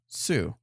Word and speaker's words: Sault: So someone was correcting the word from the Ontario that's spelled SAULT is pronounced Sue. How? I wouldn't have known that. French, man. Apparently. French Canadian.